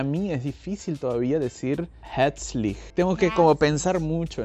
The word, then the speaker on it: herzlich: Ahí otra vez tenemos ER, que la R casi no se pronuncia. Herzlich. Entonces, Hea, como EA un poquito, Hea, y luego y la Z suena como TS.